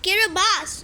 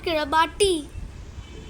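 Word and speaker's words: Kiribati: it's over here it's so small then there's kabas yes it's pronounced kabas not kabati then there's Vanuatu there is Samoa then there's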